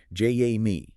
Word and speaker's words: Jamie: And just a quick note for you listening, she pronounces her name j a me.